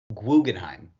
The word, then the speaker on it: Guggenheim: I actually Well, double checked the pronunciation, and it is pronounced Guggenheim. But it's basically the same thing. Okay. But it is. It translates directly to German. It's Guggenheim.